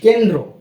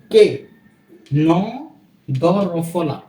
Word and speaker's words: কেন্দ্র: দেখে থাকি সেগুলোই কি অস্ত্র কেমন এরপর কি কেন্দ্র কার্কার কে ন দ রফলা বা ন সংযুক্ত দ রফলা কেন্দ্র কেন্দ্র উচ্চারণ কিন্তু র ফলা হচ্ছে এরপরে রয়েছে সম্প্রতি